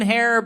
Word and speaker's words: Herrera: Dan Herrera back there. Dan Herrera rhymes with terror.